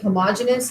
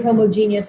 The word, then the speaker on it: homogeneous: taught i was pronounced i was taught to pronounce it homogeneous if you say homogeneous i don't care it's it's okay it's not